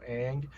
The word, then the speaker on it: Aang: mentioned a while ago they were calling the main character on instead of aang which by the way that's probably just to pronounce like that's probably in my in my opinion ang is probably the better more more yeah they